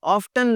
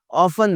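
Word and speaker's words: often: ऑफ्टन लफ्ज़ बोलते हैं बहुत सारे लोग, ऑफ़न लफ्ज़ है जनाब।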